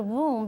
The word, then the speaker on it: womb: the uterus is womb I like the word womb because it rhymes with the word room it's a room inside a